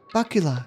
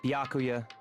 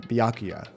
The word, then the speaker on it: Byakuya: Ah, Bakula. It's Byakuya. Thank you for pronouncing it Byakuya.